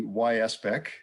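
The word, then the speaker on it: YSBEC: business enterprise center or the yspec is the proper pronunciation of the acronym uh is is one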